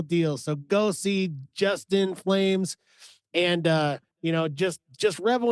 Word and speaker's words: PFlames: And everybody remember, the P is silent with this guy, but but he is, this guy is the real deal. So go see Justin Flames, and you know, just